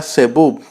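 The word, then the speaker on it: זבוב: La palabra zebub, así se puede escuchar el zumbido en su pronunciación, combinándola con la palabra Baal o Beel, que quiere decir señor o amo.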